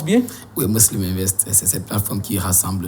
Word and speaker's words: Muslim Invest: Est-ce que je prononce bien? Oui, Muslim Invest, c'est cette plateforme qui rassemble les jeunes entrepreneurs musulmans du Cameroun et qui mène parallèlement des activités sociales.